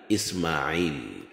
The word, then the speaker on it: Ismail: Ismail kwa kiarabu hutamkwa kwa herufi ya ain yaani Ismail.